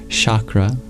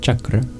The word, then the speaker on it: chakra: You might have heard it pronounced chakra, but properly it's pronounced chakra.